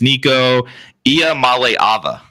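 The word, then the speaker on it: Nico Iamaleava: time we'll give one one last one it's Nico IA Mal Ava that's how you pronounce his name just so you I'm okay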